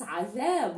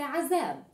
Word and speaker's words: عذاب: عذاب here, literally, if you wanted to use it and pronounce it literally in Arabic, it's عذاب, it's with a ذ sound, عذاب, but we don't really say it in Levantine, we say عذاب.